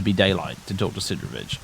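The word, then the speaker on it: Sidorovich: daylight to talk to Sidravich. So apparent I think it's supposed to be pronounced Sudrovich. Can any Ukrainian/Russian members of my audience confirm that?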